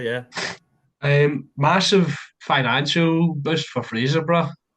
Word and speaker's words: Fraserburgh: Rangers hosting Fifth Division Fraserburgh. I'm not too sure on how you pronounce that one. You got But it right first time. Yeah, Fraserburgh.